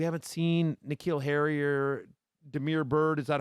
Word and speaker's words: Damiere: But again, we haven't seen N'Keal Harry or Damiere Byrd. Is that how I pronounce his first name? Yep. I apologize. Damiere Byrd.